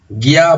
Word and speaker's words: guía: Estas dos tienen hiato, hay dos sílabas y son el tipo de hiato que se tilda siempre. Cerrada con acento, perdón la reiteración, cerrada con acento, abierta sin acento.